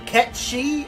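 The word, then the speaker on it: Kashchey: meet the talking cat will he pronounced his name catchy or Kate Sid does everyone pronounce it Kate sit but the mythological figure that the robot cat is based on is called catchy just like you know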